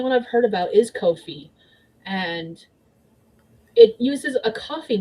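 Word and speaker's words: Ko-fi: I am still mad that's pronounced Kofi instead of coffee. It should be coffee.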